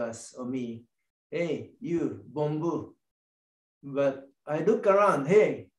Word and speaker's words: bonbu: no, you cannot use bonbu. Reason was it's spelled bomb you. So please don't use that spelling when you're typing, sending email or something. That word is really explosive. So B-O-N-B-U.